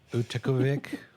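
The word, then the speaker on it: Utqiaġvik: So the Alaska Triangle goes from Juneau, Alaska to Anchorage, and then it goes north to, I learned how to say this, Utikavik on the north end of Alaska.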